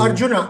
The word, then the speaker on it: Arjuna: The contemporary spiritual warrior faces an equally calous challenge as um how do you pronounce it? our arana in Kuru. Arjuna Arjuna it's a Gita is a spiritual text